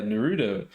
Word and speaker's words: Naruto: He's like, yeah, Naruto.